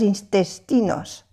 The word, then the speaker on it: intestin: Acuérdese de las vocales nasales, que hay un curso sobre esto. Un, IN1, aquí también un, intestin.